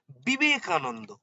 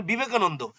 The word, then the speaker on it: বিবেকানন্দ: ধরুন আমি বারবার বলেছি অন্তস্থ বয়ের ইংলিশ টার্মটা ভি যে সমস্ত নামের ভি দিয়ে অক্ষর শুরু ধরুন সেই বটা যেমন বিবেকানন্দ ভি আই ভি ই এন এ বিবেকানন্দ এন এন ডি হলো